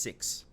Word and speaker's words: XY: So it's written XY. I think it's pronounced 6. That's how it's gonna be pronounced.